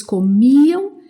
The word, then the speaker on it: comia: Nós comíamos, vocês comiam, eles comiam, elas comiam. Então, sempre forte aqui no mi, comia, comíamos, comiam.